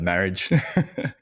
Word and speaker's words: Marriage: Yeah, look, in high school, it was marriage, and yeah, it is French, but we'll just go with marriage.